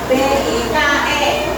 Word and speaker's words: bike: Tulisannya kalian B-I-K-E, tapi bacanya bike. Kalau big yang sebenarnya adalah besar, tulisannya B-I-G.